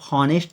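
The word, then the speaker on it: honest: पर देखिए Ram movies आनेस्ट तो इसको आप ऑनेस्ट तो पढ़ने नहीं है ऑनेस्ट तो हा इसमें साइलेंट लेटर है और उसके बाद जो हमारा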